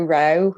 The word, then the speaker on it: Roe: my name's joe um it's joe rowe uh i do spell it like a bloke it's j-o-e-r-o-e so i'm the uh